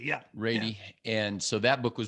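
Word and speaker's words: Ratey: Yeah, John Rady. Yeah. Rady.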